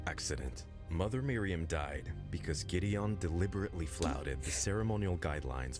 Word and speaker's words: Gideon: You can't pronounce your brother's name right. It's Gideon.